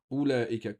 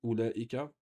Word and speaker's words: أولئك: Ici, أولئك, il y a une prolongation ici qui est prononcée mais qui n'est pas écrite. أولئك, comme ici, ça, c'est pas ça on ne prononce pas le waouh ici.